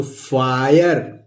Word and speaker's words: fire: इसी तरह आई प्रोनाउंस इसको करेंगे तो FIRE है, तो क्या हो गया, RE लगा हुआ है आई के बाद, तो फायर।